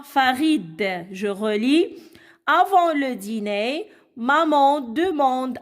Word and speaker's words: avant: Avant, t'es muet.